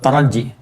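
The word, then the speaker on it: ترجي: La'allakum itu di bahasa Arab disebutnya dengan harfut taraji. Ya, taraji. Taraji. Bukan taraje ya. Taraje. Oh iya, kok taraje nih, taraje bacanya gitu. Bukan, ya, taraji, taraji, harfut taraji.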